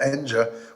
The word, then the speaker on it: Enja: I got my first solo record that was of my music on a really good jazz label, Enja, which is pronounced Enya Records in Europe.